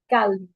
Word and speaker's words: calme: In English, we don't pronounce the L, but in French, we calme.